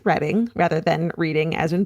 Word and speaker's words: Reading: She was a student in the early '70s in Reading, UK, pronounced Reading rather than reading as in books.